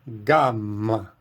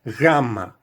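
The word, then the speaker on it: γάμμα: E a pronúncia moderna tem um som fricativo. O G não soa exatamente como o G do português. A gente pronuncia isso como gama, gama.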